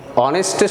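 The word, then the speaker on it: honest: কিন্তু অ্যান অনেস্ট, অ্যান অনেস্ট, এই অনেস্টের সামনে দেখো এইচ আছে, কিন্তু এইচটি উচ্চারণ না হয়ে উচ্চারণ কি হলো, ও উচ্চারণ হলো।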